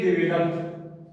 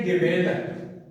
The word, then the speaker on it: develop: कुछ स्टूडेंट्स ऐसे इसको कहते हैं डेवलप, बट इसकी प्रोनाउंसिएशन है डेवलप।